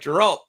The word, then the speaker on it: Geralt: Yeah, Geralt. Yeah, it's a hard G.